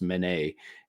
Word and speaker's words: Mene: It's Mene is how it's spelled. It's pronounced Mene, and I think it's